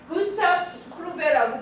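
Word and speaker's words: Gustave Courbet: 근데 얘도 얘기를 안 했던 것 같은데 구스타프 쿠르베라고 발음합니다.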